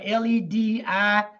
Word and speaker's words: Ledisi: You know, she's a Grammy Award, Ledisi. That's how I pronounce it.